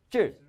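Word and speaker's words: 制: 자, 지을 제자 발음이 어떻게 된다고요? 발음합니다. 시작. 질. 이 니을은 발음하는 둥 마는 둥 해요. 그러니까 보통 뭐 안 해도 됩니다.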